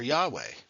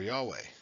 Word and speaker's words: Yahweh: He Vav He or Yahweh. I could be saying it wrong. It could be Yahuwah instead. Jehovah. I mean, it's definitely not Jehovah because that's the Germanized version of it.